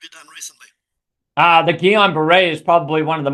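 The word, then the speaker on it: Guillain-Barré: Uh the Gillon Beret is probably one of the most remarkable things uh about the story. Yeah. Gueon Beret also pronounced like Gileian Beret, but it's a French pronunciation.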